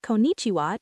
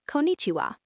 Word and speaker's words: konnichiwa: Say konnichiwa. Notice how it feels in your mouth. The N sounds, the chi sound.